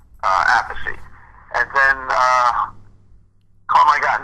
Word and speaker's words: Appice: Now, the project is Appice. Now, is it being pronounced Appice or Appice?